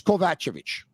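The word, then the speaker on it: Kovacevic: calling him differently but I bet you it's kovachovich I I I'm gonna take your your word for it I'm gonna ask him before mispronouncing his name but I thought it was kovachevic but I I think you're probably bang on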